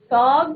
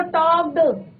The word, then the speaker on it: talked: the bird told टॉक्ड the bird Like- टॉक्ड like L silent रहता है बच्चे। Roberts, क्या वो है? रॉबर्ट्स। बोलो फिर से पढ़ो। The bird टॉक्ड। the bird टैल्क नहीं बेटा, एल साइलेंट रहता है।